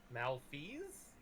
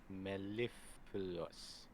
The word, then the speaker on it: mellifluous: Malfeas? No. Mellifluous.